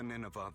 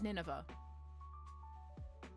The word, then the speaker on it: Nineveh: Dear manager, you've given the Ninevea that I brought you to Lyon, correct? Oh, it was Nineveh. Battle pronunciations.